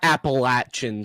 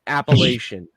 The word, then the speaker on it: Appalachian: And also, it's not Appalachian State, ESPN. It's Appalachian. I think the reason why they say it is because of the Appalachian Mountains, because that is how you pronounce that.